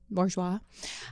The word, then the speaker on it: Bourgeois: Bourgeois.